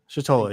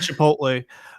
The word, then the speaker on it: Chitola: Chitola, yes, exactly. So we'll put our pronunciation guide here. Chitola, not Chipotle. Not Chipotle.